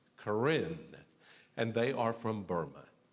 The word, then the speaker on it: Karen: the Korean people there it's spelled as if it's Karen k-a-r-e-n but it's pronounced Corinne and they are from